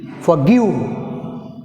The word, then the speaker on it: forgive: Here stress is give, second syllable G మీద.